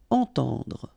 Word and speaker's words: entendre: Okay, so two times this nasal en, entend, and then at the end don't insist on the final e, dr. Entendre.